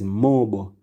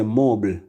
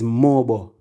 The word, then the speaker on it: MOBO: It's Mobo. And it stands for Music of Black Origin. Many people say mobile.